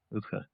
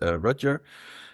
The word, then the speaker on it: Rutger: So last but not least, Rutger. Thanks, Damien. A very good Dutch pronunciation of my name. And in English, I would say my name is Rutger.